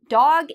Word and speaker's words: dog: Well, dog has a different vowel sound than duck. Dog is longer. We say dog. Compare this to duck, which is very short and a bit sharp.